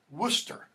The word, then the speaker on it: Worcester: Worcester is how that's pronounced.